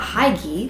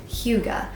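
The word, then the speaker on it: hygge: to this term which I have been pronouncing mispronouncing for so long because I just looked it up and it is not Hai like I thought it was it's Huga and it is this Danish concept of a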